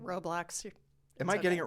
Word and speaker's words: Roblox: Roblox. Am I getting it wrong? It's not roadblocks, like there's a roadblock in your way on the way to the store.